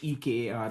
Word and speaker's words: Shekar: Yeah, it's like Shekar, Shekar, like, but it's like it's not. It's like salt and pepper shaker, but it's Shekar is how it's phonetically like written, and, Nat as